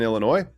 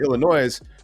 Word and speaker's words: Illinois: Now, if you want to actually be in Illinois, you don't pronounce the S. But if you call it Illinois, we just think you're not from there.